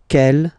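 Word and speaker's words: quelle: C l L, but it's pronounced like the masculine form. K at the masculine, kel at the feminine.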